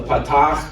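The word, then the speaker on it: פתח: We've learned the patach, which is a dash under the letter, and it sounded like the ah in father.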